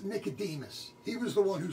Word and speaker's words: Nicodemus: twice died once and like I said before Nicodemus I've mispronounced it the first time I said Nick the dermis yeah I saw that my bed I'm not